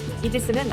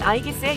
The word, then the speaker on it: 이지스: 제우스의 방패 아이기스에 유래했으며 이지스는 아이기스의 영어식 발음이라고 합니다 일명 모든 것을 다